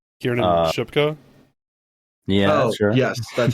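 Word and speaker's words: Kiernan Shipka: camera I I can never remember how to pronounce her name Kieran shipka yeah yes that's how is it Kier shipka okay Kier shipka plays uh Carrie and Camera uh Dakota Doby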